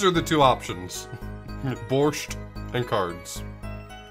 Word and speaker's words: borscht: sounds wrong but I I accept and will pronounce it borscht from that is not very cash rubles